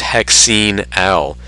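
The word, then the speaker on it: hexanal: is for hexi now be careful naming this one out loud not to confuse it with hexanol it's hexing al al is in albert some places will pronounce it differently and that really doesn't matter just be sure to remember to differentiate it from the alcohols when you're giving the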